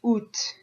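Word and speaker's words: août: I've heard people say o o o so you're just ignoring the A and the T basically I've also heard people pronounce UT UT o where you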